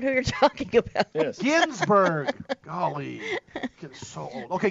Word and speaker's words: Ginsburg: Gingrich? No, not Gingrich. Ginsburg. Ginsburg.